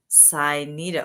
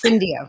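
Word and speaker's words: Syndio: director uh total reward strategy and solutions at Sido. Wait, I'm totally pronouncing it wrong because I totally fine. It's Cindio.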